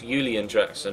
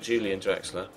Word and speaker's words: Julian Draxler: Yeah, it's German, Elliot, so it's Julian Draxler, not Julian Draxler. If he was English, it'd be Julian, but he's German, so it's Julian. It's pronounced with a Y.